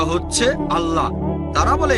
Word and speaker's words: আল্লাহ: এখন এটাই তাদের ভাষা একইভাবে আমরা জানি সঠিক উচ্চারণটা হচ্ছে আল্লাহ তারা বলে এলা আমরা বলি আল্লাহ সমস্যা নেই সঠিক উচ্চারণটা হচ্ছে আল্লাহ পরেফল বুঝলেন তিনি যেটা করেছেন তাতে কোরনের কাছাকাছি এসে গেছে।